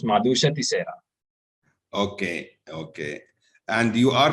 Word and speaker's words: Madusha: pronounce your name uh it's pronounced as madusa okay okay and you